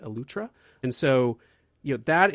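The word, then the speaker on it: Eleuthera: and go experience the island of utra is how they say it utra and so you know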